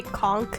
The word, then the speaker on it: conch: regional thing but like some areas that say conch instead of con like it's clearly a CH why you making a k sound I say it like